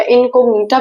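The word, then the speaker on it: incognita: उस निमेटोड का नाम है मिलोइडी गाइनी इनकोग्निशिया या इनकोग्निटा भी कुछ लोग कहते हैं, प्रोनाउंसिएशन आपके ऊपर है।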